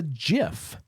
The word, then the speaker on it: gif: soft G it is and it is a jiff in fact Doc Brown on mmm Back to